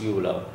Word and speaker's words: uvula: This one is uvula. We call it uvula. This is the pronunciation of this.